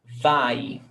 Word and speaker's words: vai: I, vai. Você vai. Nós vamos. Stressed syllable before last.